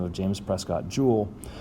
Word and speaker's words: joule: name of james prescott jewel j-o-u-l-e we abbreviate this thing with a capital j but it's pronounced like a precious gem like a jewel like so so when